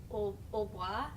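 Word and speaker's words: hautbois: for an oboe, and it's like Hautboi. So I think it's like you would say it like au bois or something, which is how people come up with oboe, Yeah.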